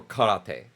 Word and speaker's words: karate: That's what karate is or karate if you say it correctly.